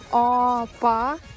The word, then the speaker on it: апа: Мы тянем гласные буквы. Опа.